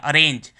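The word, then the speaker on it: arrange: ए की अन की आवाज़ ए रही है अरेंज अन रेंज अन रेंज हम इसे कैसे पढ़ना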